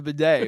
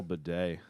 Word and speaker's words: bidet: so I mean you could drink from the bidet if you wanted to you probably could but